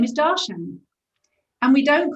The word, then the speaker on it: Darshana: If the accent on the first syllable with most Sanskrit names will get you in the pocket. So it's DARSHANA or DARSHANA, either two syllables or three, but DARSHANA or DARSHANA. Accent on the first, we're golden.